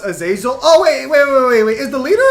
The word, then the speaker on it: Azazel: Yes, it's pronounced Azazel.